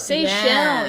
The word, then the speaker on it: Seychelles: Seychelles, yes, in the Seychelles Islands.